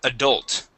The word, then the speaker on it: adult: And our last word is the word adult. Adult. Adult. right. L silent? The L is not silent.